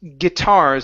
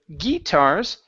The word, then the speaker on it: guitars: This word here is pronounced guitars instead of guitars. Okay, it's a g sound. It's a short I.